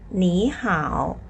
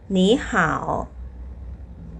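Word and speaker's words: 你好: จำ ได้ ไหม คะ ว่า เรา ต้อง เปลี่ยน เสียง ตัว แรก เป็น เสียง อะไร เป็น เสียง 2 นะ คะ คำ นี้ อ่าน ว่า หนี ห่า หนี ห่า ต่อ มา ค่ะ ฝึก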